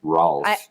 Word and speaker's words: Raulf: So we're going to go with the American version, Raulf.